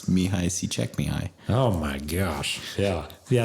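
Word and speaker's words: Csikszentmihalyi: like the the person that coined Flo it's mihai see check me high oh my gosh yeah yeah that's not how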